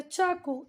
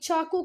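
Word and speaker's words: Chaco: Of grand काको या चाको। एक minute देखती हूँ बच्चा, इससे स्टूडेंट्स तो अच्छा हुआ देख लिया। ये चाको काको कुछ नहीं, ये चेका, क्या बोल रहे हैं इसको, गूगल प्रोनाउंसिएशन चेका, ठीक है।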